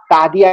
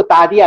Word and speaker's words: تعدیہ: بالسکینی بالسیوفی، یہ با تعدیہ کے معنی میں آتا ہے، یعنی تجاوز کرنا اس کے ذریعے.